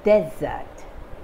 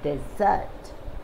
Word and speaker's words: desert: differentiate the word so as a noun the stress is on the first syllable desert desert and as a verb the stresses on the second syllable dessert dessert dessert so dessert means a